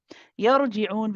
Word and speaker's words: يرجعون: Sister Shireen, is that the ra for you is pronounced with, you are adding an itbaq to the ra. So it sounds trapped in your, and it's very easy to do because you're trying to make it heavy.